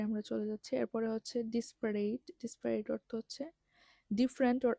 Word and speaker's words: disparate: এইসব ক্ষেত্রে, বা ডিসপারেট, এটা আবার ডেসপারেটের মতো না, এটার বানানটা হচ্ছে DISPARATE, ডিসপারেট মানে অসম বা ডিফারেন্ট অর আনরিলেটেড।